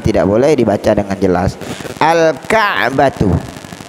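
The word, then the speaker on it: الكعبة: Al-Ka'batu, al-Ka'batu, kafnya termasuk huruf qamariyah. Cara membaca lamnya dibaca dengan jelas.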